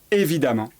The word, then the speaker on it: évidemment: Pour former l'adverbe, on va remplacer ENT par amant qui s'écrit EMMENT. Apparent va donner apparemment. Patient va donner patiemment. Évident va donner évidemment.